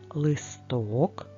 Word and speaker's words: листок: поставимо і тут наголоси один листок наголос на о над буквою и наголосу